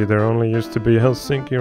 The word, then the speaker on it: Helsinki: There only used to be Helsinki right here, or Helsinki like it's pronounced in Finnish, but I also added Oulu up here at the bay.